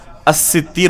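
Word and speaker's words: السِّتِّير: میں سے الستیر ہے۔ تو حقیقت میں صحیح تلفظ اس نام کا کیا ہوگا؟ الستیر ہوگا، ستار نہیں۔ تو اسی طریقے سے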